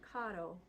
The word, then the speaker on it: caro: No American like rhotic R's like R, caro. We don't want to have that. We want caro. Caro or caro, but you don't have time to roll for in the middle of the syllable like that.